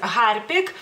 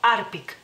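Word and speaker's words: Harpic: las terminaciones lituano lituanas pero sí es hard Pick y en español a mucha gente tiende a o sea quitar que la H no tiene ningún sonido en español y decir arpik arpik Entonces esta sería la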